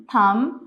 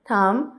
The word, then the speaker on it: thumb: हम इसको कैसे प्रोनाउंस करेंगे? क्लाइम, लाइम, थम, प्लम्बर, क्रम, कॉम, लैम। अब यहाँ पे कहीं पे भी बी नहीं बोला जाएगा। क्लाइम, लाइम, थम, प्लम्बर, क्रम, कॉम, लैम।